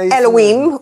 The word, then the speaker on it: Elohim: Yes, and Elohim would be the proper way to say it, Elohim.